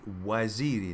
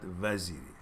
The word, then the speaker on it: Waziri: So you pronounce Waziri, not Vaziri.